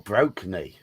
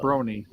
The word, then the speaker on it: Brony: the Brony the Brony Brony or broky no BR broky not Bry Brony pronounce it Brony half bro and half pony you immediately attack this